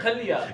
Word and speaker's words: Kia: shis a okay okay K not Korea not Korea Kia there we go is me not it's